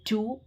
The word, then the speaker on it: two: silent in the four, and the two the W sound is silent in the word two.